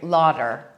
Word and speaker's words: larder: la our de our larder but I have to kind of pronounce it the English way Lauder because if I don't no one will understand me so this is the